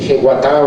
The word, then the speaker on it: jeguatá: La ética guaraní es nuclear en su filosofía entera el concepto del jeguatá o yeguatá, como se debe pronunciar, ¿no?